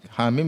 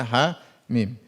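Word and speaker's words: حم: Mim Alif Lam Mim HAM mim dibaca ha mim Yasin jangan dibaca Yas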